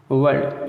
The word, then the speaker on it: world: वर्ल्ड, अब देखिए यहाँ बताया कि आर के बाद कोई स्वर ना हो तब भी साइलेंट रहेगा। अब देखिए वर्ल्ड में क्या है, वर्ल्ड संसार वाला, WORLD, तो इसमें र नहीं बोलेंगे, वर्ल्ड बोलेंगे। शॉर्ट, ठीक है, शॉर्ट कहेंगे,